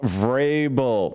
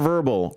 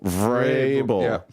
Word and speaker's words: Vrabel: It's pronounced Vable. Not Verbal. Vable.